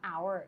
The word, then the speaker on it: hour: ใช่ มม คะ คือ เรา ไม่ ออก เสียง ตัว H มัน ก็ เลย ประหนึ่ง